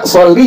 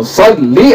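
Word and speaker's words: صَلِّ: kepada apa perempuan tuh Makanya nggak boleh jadi baca soli jangan diapain jangan dibacain Allahumma sholli ala sayyidina muhammad iya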